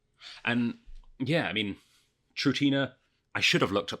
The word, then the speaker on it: Trutina: Latin translation of what Trutina means with an accent, a straight accent on the A.